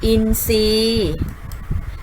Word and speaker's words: อินทรีย์: ต้น ไทร และ พุทรา อินทรีย์ และ ทรัพย์ ค่ะ เห็น ไหม คะ จะ ออก เสียง เป็น ส โซ่ ทั้ง หมด เลย นะ คะ เรา ไม่ ออก เสียง ทร ค่ะ อ่ะ ก็ จะ ไป